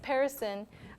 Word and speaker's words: Perisson: But as the slide says, Perisson, we say it rhyming with Harrison.